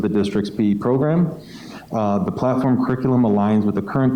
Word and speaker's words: PLT4M: I think that's pronounced platform, so I'm just going to pronounce it as platform.